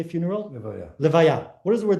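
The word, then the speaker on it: לְוָיָה: It's a big mitzvah actually called Levayat Hames. Right? What is a funeral in Hebrew? How do you say funeral? Levaya.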